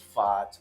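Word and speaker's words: Pfaadt: has a fat Ting supposedly it's pronounced fat I like to think it's pronounced fat and we're going to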